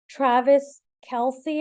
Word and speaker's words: Travis Kelce: I'm with Ditz, and we're going to talk about Taylor Swift and Travis Kelce.